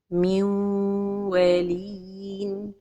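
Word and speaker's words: من وال: L'erreur est la prononciation de l'idgham sans ghunna. Min walin. C'est comme si on a donné juste un ton lent pour la lettre waw. Or que l'idgham se fait avec le ton de la ghunna. Min wa. Donc la prononciation correcte est min walin.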